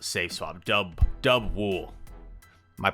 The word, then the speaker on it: Dubwool: liked about this team uh highlighting is the dabool safe swap dub dub wool my pronunciations have been getting uh the better of